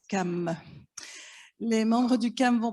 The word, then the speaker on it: CAM: du conseil d'appui méthodologique dont l'acronyme se prononcent calmes mais membres du calme